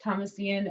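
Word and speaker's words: Thomasian: is Thomas Ian that is pronounced Thomas Ian and yes I have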